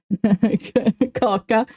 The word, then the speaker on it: kaka: Kaka. I mean, kaka means poop in Finnish as well. So it's kind of funny. But we have a long A in the pronoun, so it's not really the same.